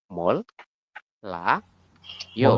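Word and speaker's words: 몰라요: di sini disebutkan bahwasanya kalau ada R di akhir bertemu dengan R lagi di di sampingnya keduanya dibaca l ingat-ingat ya keduanya dibaca l berarti gimana say berarti teman-teman Bacanya adalah mol la yo mol seperti ini sampai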